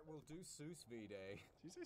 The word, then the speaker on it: sous vide: All right, we'll do sous vide. Did you say sous vide? Yeah, or whatever. How's it pronounced?